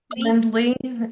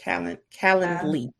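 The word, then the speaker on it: Calendly: Kalen Kendly I think is how you pronounce it. C A L E N D L Y. Sound like that. calendarly and they offer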